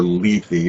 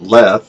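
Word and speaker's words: Lethe: What a really intriguing story of a Yale secret society ley house like the river leafy, but I've always pronounced it leth or lethy.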